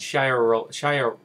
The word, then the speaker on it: Sharia: Now, today, in the year 2010, a number of Nigerians have begun to speak about this case and sharia law in general concerning this amputation, and they are using social networking systems to do so.